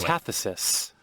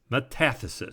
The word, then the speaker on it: metathesis: let's do the pronunciation let's see how to pronounce it correct metathesis metathesis so tough to spell and tough to say